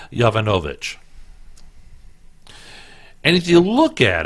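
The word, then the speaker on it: Yovanovitch: Clinton her name is Marie yo Vanna Novick had to sounded out multiple syllables that sounded out so it's Marie Jovanovic and if you look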